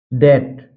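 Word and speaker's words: debt: दूसरा है टी से पहले, टी से पहले आया बी साइलेंट रहता है। जब भी किसी वर्ड में अगर टी से पहले बी आता है तो वहां पर भी बी साइलेंट रहता है। जैसे डेट, डेट में आप देख सकते हैं यहाँ पर टी से पहले बी आया है, इसलिए बी साइलेंट है, सीधा पढ़ा गया है डेट।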